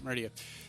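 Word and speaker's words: Maridia: in this area in Merida. Is that how you say it? I forget. Meridia? Meridia.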